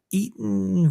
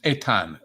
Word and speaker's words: Etan: I think the pronunciation is Etan. It's kind of a foreign version of Ethan, but I see.